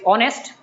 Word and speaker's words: honest: here you see uh h is silent in all these three cases h is silent we